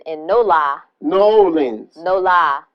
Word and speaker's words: New Orleans: no La New Orleans no lie you gotta say it like them people say No Lie New Orleans is